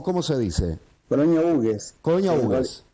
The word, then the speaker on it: Hugues: Colonia Hugues. Colonia Hugues. En realidad es francés, el apellido está mal puesto en la ruta, está con H, está en inglés, pero Luis Hugues, el que trazó la colonia, bueno, era francés.